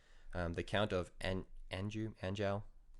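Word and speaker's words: Anjou: the count of Andrew anjao how you pronounce it a-n-j-o-u his name was Jeffrey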